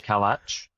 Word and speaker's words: Kalac: I'm going with Kalach, so kind of a TCH at the end is my pronunciation, just because that's the way I've said it all my life.